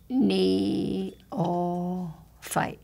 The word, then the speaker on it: neophyte: neophyte we'll fight okay listen knee oh fight put your fingers under your chin kneel fight put your fingers in kneel all fight wait just let's say it's slower oh fight it's a new word isn't it knee oh fight